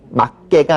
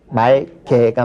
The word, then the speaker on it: 맑게: 그니까 아마 기억기 뭐 충돌해서 그런지 잘 모르겠지만은 이때는 막게가 아닌 말게가 맞죠.